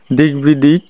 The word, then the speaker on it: দিগ্বিদিক: তাহলে আমি আবারও বলছি, সন্ধির ফলে ক যদি গ হয়ে যায় তার সঙ্গে বফলা হলে বফলার উচ্চারণ হয়, যেমন দিগ্বিদিক, তারপরে দিক বিজয় ইত্যাদি।